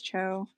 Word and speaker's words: Cho: Lee or Frank Cho I guess am I pronouncing that right it's Cho yeah yeah uh because oh my gosh cuz